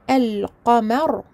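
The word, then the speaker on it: القمر: Alors que dans le mot el-qamar, donc la lune, le nom, la lettre lem est prononcée. El-qamar.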